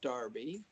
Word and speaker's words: Derby: Well, it's spelled Derby, but it's pronounced Darby, but it was a great experience.